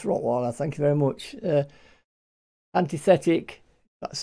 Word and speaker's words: Antithetic: Antithetic, that's how it's pronounced.